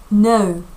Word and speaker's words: know: 자, 읽을 때 유의해야 될 점은 요거 크는 무음이다. 다시 말해서 발음을 한다, 한다, 안 한다라는 거 기억하시면서 갈게요. No.